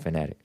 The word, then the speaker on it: Fanatiq: I call it Fanatiq, but he pronounces it Fanatic.